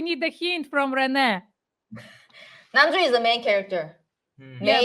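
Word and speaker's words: 남주: So, in the world of K-dramas, you often hear the term namjo. Did I answer that correctly? I mean, did I say it correctly? Namjo. Namju.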